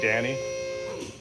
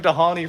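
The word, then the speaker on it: Dhani: You know we're supposed to pronounce his name Danny? He's Indonesian and the H is silent. I was hanging out with one of my friends that like lives in Bali and she was like, oh yeah, Danny. And I was like, dude, we've been calling him Dahani for like 10 years.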